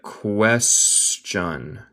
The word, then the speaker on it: question: Always se pronuncia question. Question. El T suena como CH.